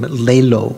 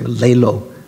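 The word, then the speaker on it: ལེ་ལོ: to laziness laziness right Tibetan is a nice name lay low almost sounds like they first the first syllable say lay low lay low as laziness so what are the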